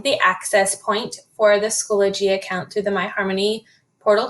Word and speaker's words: Schoology: able to find the access point for the schoology account through the myharmony portal dashboard review a few resources and how to use them in the schoology system and then understand behavioral and academic expectations